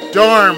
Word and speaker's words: Darm: Oh yeah, Asteria is known for the Dom Tower. Or the Darm Tower, as it's pronounced properly.